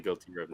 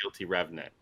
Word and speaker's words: Guilty Remnant: The Guilty Remnant. Remnant. Yeah. Yeah. Yeah. I think I've been saying guilty revenant at points.